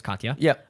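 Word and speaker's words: Katja: It's K A T J A which I believe is Katya.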